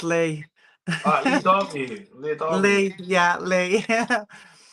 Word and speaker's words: Leigh: Loads of people call me Leah for some reason. But because you don't spell it L-E-E. You spell Leigh L-E-E. You spell it L-E-I-G-H. That's Leah, right? No, it's still Leigh.